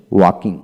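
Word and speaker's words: walk: চোখ চোখ হলো ব্রিটিশ উচ্চারণ চক হচ্ছে আমেরিকান উচ্চারণ তারপর আসেন ওয়াকিং ওয়াকিং এল এর উচ্চারণ হবে না তারপর আসেন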